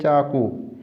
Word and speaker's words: چاقو: چاقو ہی کہتے ہیں، لیکن یاد رہے جو اصل فارسی والے لوگ ہیں کاف کو غین کے تلفظ کے ساتھ پڑھتے ہیں۔ چاقو لکھا ہوا ہے